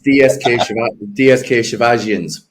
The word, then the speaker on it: DSK Shivajians: And if you can tell us the name of the team, because I'm not going to pronounce it. It's DSK Shivajians.